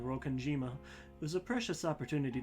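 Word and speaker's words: Rokkenjima: Sorokanjima, I will say, I think for the first several streams of this, I mispronounced Rokanjima as Rokanijima. Because there's Nijima as well.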